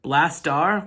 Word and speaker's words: Blastaar: knocked out first and i should mention it's not blaster spell it's not spelled blaster like the dude from the autobots it's like blast star with two a's at the end like brave star if you remember that